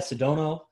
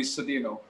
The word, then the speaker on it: Sedino: So we have with you today, who I call, or Sedano. I believe I say it right? That would be Sedino. Sedino. Sedino.